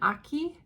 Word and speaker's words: Ache: Susan Aki, which is spelled like ache, ACHE, has some Quakers.